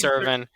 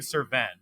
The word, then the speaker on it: Cerven: I have right now have I been saying your name wrong is itbe yeah it's serin I I've been saying cin like your I mean